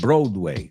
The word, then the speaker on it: Broadway: And then if you know how to pronounce that, you know how to say Broadway. You want to say Broadway, right?